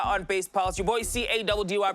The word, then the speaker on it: Caddy: Your boy C-A-D-D-Y, pronounced Caddy, is in the building to give you all the stories that you need to know.